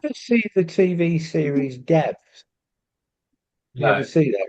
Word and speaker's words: Devs: Um And and it turned out that Devs, in in Roman Latin, the V is actually U. So, the title of the program was Deus, which is spelled God.